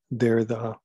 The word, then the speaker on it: Derrida: That's how you pronounce his name, Jacques Derrida.